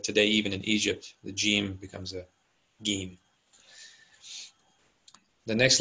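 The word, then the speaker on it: ج: Jim. Is that how I would pronounce it if I was in Egypt? No, Gim.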